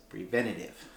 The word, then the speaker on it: preventative: Preventative. 4 syllables.